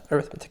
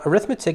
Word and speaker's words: arithmetic: make a very embarrassing arithmetic mistake fun fact uh arithmetic in arithmetic uh spelt the same way why are they pronounced different one is a noun and the other is an adjective right uh okay um